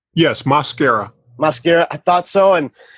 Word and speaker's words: Mosquera: Can you tell us what how your last name is pronounced? Yes, Mosquera.